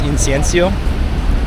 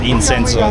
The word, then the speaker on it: incienso: And there's also incense, incienso, which I initially pronounced wrong. I said incenso, that's not right.